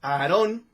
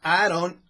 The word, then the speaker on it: Aaron: Él era Aaron, bueno, en México es Aarón, pero en Estados Unidos ya saben que se pronuncia Aaron Elvis.